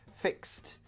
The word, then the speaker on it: fixed: These do not produce a vibration in the throat. So, fixed. Fix ends in an X. S, s. There's no vibration.